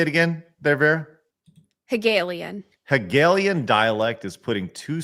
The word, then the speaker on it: Hegelian: Hegelian.